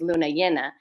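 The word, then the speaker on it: Luna Llena: so full moon is Luna yenna and um in Spanish it can be pronounced Jenna or Yen and so in so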